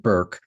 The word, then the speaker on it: Bourke: I've been calling it Burke for a dozen times and I have to keep remembering that she pronounces it Burke. Um Anna Burke, burke ke.